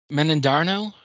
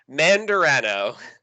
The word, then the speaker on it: Mandarano: Could you Give it a pronounce it? whirl. Give it a try. Menandarno? Close, but not really. Mandarano.